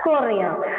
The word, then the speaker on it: cornea: the maximum refraction takes place and it is pronounced as Coria next to it next to it there is